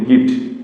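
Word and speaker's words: gift: কিন্তু এখানে জি এর পরে ই থাকার পরেও কি হইছে এখানে গেট উচ্চারণ হছে গ উচ্চারণ হইছে এরপরে যদি আমরা যদি বলি গিফট জি আই এফটি গিফট এখানে কিন্তু জি এর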